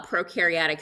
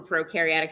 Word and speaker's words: prokaryotic: we can see for prokaryotic cells pro rhymes with no no nucleus no membrane-bound